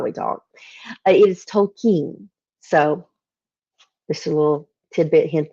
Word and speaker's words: Tolkien: pronouncing all my life wrong it is not Tolkien how I pronounce it because I'm a southerner and that's how we talk it is Tolkien so this little tidbit hint there in case